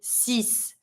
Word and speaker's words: six: like a x but you're going to be pronouncing it like a s so you're going to be saying CIS like if it was like just s i